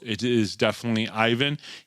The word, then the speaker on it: Ivan: spelled, it is definitely Ivan. He goes over in Russia, they say Ivan, and his nickname over there, which he prefers to be called, is Vana.